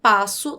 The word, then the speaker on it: passo: as letras são pronunciadas já a palavra passo tem cinco letras passo1 cinco letras mas apenas quatro fonemas por quê porque ss esses dois s juntos eles têm um único som portanto cinco letras e